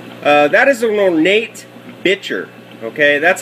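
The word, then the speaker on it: bichir: you see him uh that is an ornate bitcher okay that's how it's actually i mean some people say biker uh but it's actually pronounced bitcher uh it's a little two to three inch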